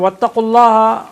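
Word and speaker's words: واتقوا الله: So wattaqullaha also just now I told you, waw is dropped now. Wattaqullaha, iltiqa sakinain. Right. Taqullaha, there's no waw there in pronunciation, it's only written in writing.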